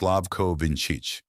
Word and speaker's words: Slavko Vinčić: The referee, Slavko Vinčić, pronounced Slavko Vinčić, the first Slovenian to ever take charge of a World Cup final.